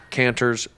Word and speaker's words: Canter's: What'd I say wrong? What? It's not plural. It's singular. Canner Delis. I know I'm saying it wrong. Canter's Delis. Canter's Deli. The deli.